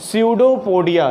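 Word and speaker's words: pseudopodia: और इस नकली पैर जैसे स्ट्रक्चर को कहते हैं क्या, स्यूडोपोडिया। क्या कहते हैं, स्यूडोपोडिया। इसमें पी साइलेंट है तो स्यूडोपोडिया इसको कहते हैं।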